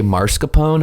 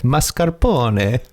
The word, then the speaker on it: mascarpone: I think I don't know why this is very specific, but that like bakers say mascarpone and that's not how it's spelled. Mascarpone? It's mascarpone.